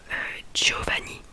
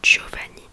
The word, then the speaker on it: Giovanni: Du coup, comme je vous ai dit, du coup Giovanni, ça s'est prononcé du coup Dieu, parce qu'il y avait un I avant du coup.